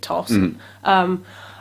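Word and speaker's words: Thos: he's got this lovely friend called toss it's t-h-o-s and i'm pronouncing it toss and um they've kind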